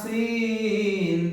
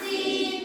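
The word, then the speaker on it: سين: সিন উচ্চারণ কেমন হবে সিন সামনের নিচের দাঁতের আগা হতে শীর্ষ পাতলাভাবে আদায় হবে সিন সামনের নিচের দাঁতের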